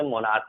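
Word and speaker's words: monarch: और कुछ एक वर्ड है जो जैसे मान लो मोनार्क, स्टोमक, इसमें भी सी के बाद जो है एच है, यानी कि हमने बताया है कि सी के जस्ट बाद एच होगा तो भी सी एच जो है साइलेंट होता है, ठीक है ना। तो इस केस में से मोनार्क पढ़ा जाता है और स्टमक पढ़ा जाता है, ठीक है।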